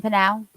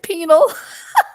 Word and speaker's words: Pinal: He's in Pinal? Yeah. I was pronouncing it wrong. I said penal.